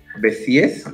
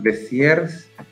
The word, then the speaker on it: Béziers: Nos dicen Béziers, Béziers. No, ya saben que ya fue todo. Lo pronunciamos en español y así quedó.